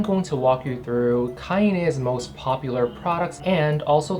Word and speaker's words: KAINE: The correct way to pronounce this brand's name is KAINE. It's not Kane or Kain, it is KAINE.